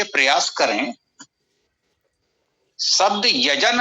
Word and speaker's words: यज्ञ: हाँ, एक तो थोड़ा ये प्रयास करें, शब्द यजन है या यज्ञ है, क्या है गा नहीं है।